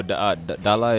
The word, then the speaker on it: DALA: You have to say it like that. Of DALA. course. Okay. I mean, people say Yeah. DALA, but Yeah. it's DALA. That's DALA. yeah, which Okay, means so- home in Jango.